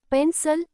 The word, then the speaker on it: pencil: In the word pencil, the second part, cil, is unstressed. So the vowel I sounds light like a, not e.